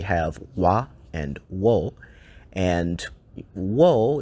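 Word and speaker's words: を: really have a lot of W sounds. We basically have wa and wo, and wo is kind of tricky because oftentimes it's pronounced as o.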